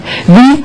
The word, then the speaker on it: wie: Wie heißen Sie bitte? Wie heißen Sie bitte? And try to keep in mind, if you pronounce this letter, it will be V, V, V.